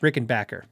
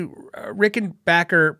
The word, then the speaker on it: Rickenbacker: Actually, it's pronounced Rickenbacker, if that makes sense.